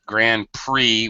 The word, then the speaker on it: Grand Prix: And although I now I have to contradict myself, I just said Grand Prix. We don't pronounce the X.